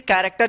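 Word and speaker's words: character: तो in case में आप दो चीज, क्रोम और यहां पे कैरेक्टर, इस केस में जो है ना आपको सी एच का क उच्चारण होगा, बाकी जगहों पे जो है ना आपको सी एच का च ही उच्चारण करना होगा।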